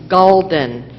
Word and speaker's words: gulden: The word is gulden.